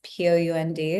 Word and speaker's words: Pound: It's Pound. It's spelt like it's sounds.